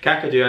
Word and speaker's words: Kakadu: cardio or someone kakadu kakadu i think it's pronounced kakadu national park it's a place I don't think